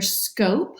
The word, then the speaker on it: scope: let's analyze this word it can be either scope with it magic e on the end or it might be scuff just depends on what we add to it now do you have